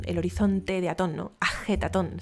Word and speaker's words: Ajetatón: Amarna, y que llamó Aketatón, el horizonte de Atón, ¿no? Ajetatón, si queremos pronunciarlo un poco más adecuadamente.